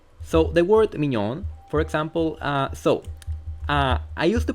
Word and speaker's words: mignon: Because, I mean, if I really cared about learning, I would have discovered that the G and N together are basically the same sound as the ñ in Spanish, a sound which I'm already familiar with, so I would have not struggled pronouncing it.